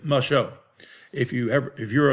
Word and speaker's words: Muscle Shoals: how to say it it's not muscle shoals alabama it's my show if you ever if